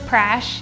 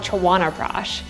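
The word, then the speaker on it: Chyawanprash: It does get pronounced as prash here, and so prash actually, I actually take this Ayurvedic jam, and so it's an immune boosting jam called Chawana prash.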